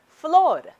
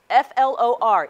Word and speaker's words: flor: Flower in Spanish is flor, F-L-O-R, easy as that, flor.